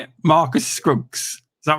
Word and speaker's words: Marcus Scruggs: Marcus Scruggs.